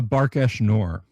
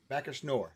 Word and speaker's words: Barkash Nour: Quest for the Teeth of How do you pronounce it again exactly, Bill? The Quest for the Teeth of the Barkash Nor. Barkash Nor. There you go. We'll be talking with him today. Barkash Nor.